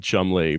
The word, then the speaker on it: Cholmondeley: An Englishman would have to defend why you pronounce Edinburgh, and Cholmondeley, Chumley.